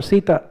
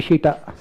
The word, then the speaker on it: Sita: For Ram, they will say Ram, and for Sita, they will say Shita. Right, that is how they pronounce.